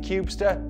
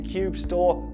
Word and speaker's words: kubestr: storage for kubernetes workloads now i'm pronouncing it cubester but it might be cube store or even something else but you know what